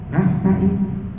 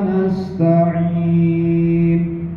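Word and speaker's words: نستعين: Na'budu menyembah wa iyaka dan hanya kepada Engkau ya Allah nastain. Nah, ini yang gak ada di sini. Maknahu kufron malah kufur. Kita tidak menyebutkan iyaka nabudu wa iyaka nastain.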